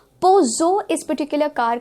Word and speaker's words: Peugeot: Peugeot गलत pronunciation हो जाता है और सही प्रोनाउंसिएशन है Peugeot इस पर्टिकुलर कार का सही प्रोनाउंसिएशन है, it